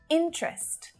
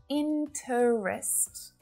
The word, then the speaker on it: interest: language it's business business interest not interest just two syllables interest interest interest chocolate